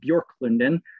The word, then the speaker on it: Bjorklunden: One is a retreat center up on the shores of Lake Michigan, pictured here, called Bjorklunden. Yes, that's how you pronounce that.